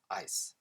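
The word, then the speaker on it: áis: So it's written A-I-S, but it's pronounced ice. Ice. Just like an ice cube in English.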